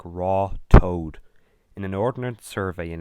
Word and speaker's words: Ratoath: In 1836, a native of Ratoath, Nicholas Walsh, stated that in English the village is pronounced Roth-Oath, but the natives pronounce it like Raw Toad.